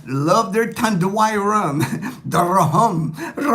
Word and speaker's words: rhum: According to my good friend Ray in the Philippines, rahum, because they spell it tanduay. When you look at the bottle, I never noticed it until Ray pointed it out to me. It's spelled RHUM, so it's not just rum. It's rahum.